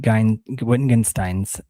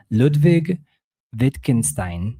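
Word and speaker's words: Ludwig Wittgenstein: Whitten Whittenstein. Whittenstein. This is where I'm I'm totally okay with making a fool out of myself because I'm like, how do you say this? Ludvig Vitkinstein. There we go.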